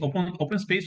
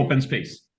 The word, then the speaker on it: open space: Open space aussi? On utilise comme c'est un anglicisme, c'est un anglicisme. Ah, Anglicisme. Donc, on le prononce de façon anglaise. Oui. ok. Donc, Mais open space.